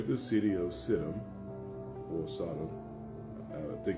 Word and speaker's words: Sidon: it's pronounced, near the city of Sidon, or Sodom, I think it's pronounced Sidon.